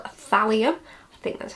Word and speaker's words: thallium: So he also managed to get his hands on like a heavy metal substance called thallium. I think that's how you pronounce it.